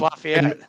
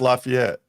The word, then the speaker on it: Lafayette: of our states well in Tennessee they call it uh laf laf laf it's Lafayette yeah in Michigan it's Lafayette in Georgia it's Lafayette in Louisiana it's Lafayette they call lafayet here it's weird yeah uh we won't even